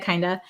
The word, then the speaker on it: kinda: it's kind of interesting kind of kind of kinda so i really recommend using this when you're